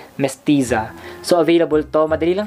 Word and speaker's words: Mestiza: Available itong Mestiza, ganun kasi is pronunciation niya, Mestiza.